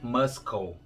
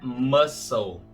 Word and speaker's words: muscle: Em inglês não é muscle. Esse C é mudo. O correto é muscle.